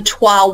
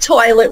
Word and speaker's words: toile: It's not toilet wallpaper, no. It's toile wallpaper. And I'm sure many in your audience know what toile is. Yes, I researched. Yes, toile is that incredible artistic fabric and wall covering.